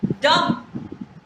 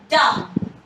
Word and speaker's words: dumb: And many of us speak it dumb, which is not correct at all. Dumb, D is silent, so it's dumb.